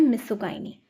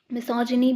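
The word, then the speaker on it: misogyny: मिसोजिनी भी बोलते हैं इसे और मिसोजिनिस्ट भी बोलते हैं। अब वो कन्वर्सेशन प्रोनाउंसिएशन का, कोई मिसोगाइनी बोलता है, कोई मिसोजिनी बोलता है, और सेम गोज़ विथ मिसोजिनिस्ट और मिसोगाइनिस्ट।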